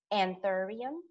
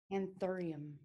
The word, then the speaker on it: Anthurium: Anthurium. Anthurium. Mm-hmm. That like an auditorium, but an anthurium.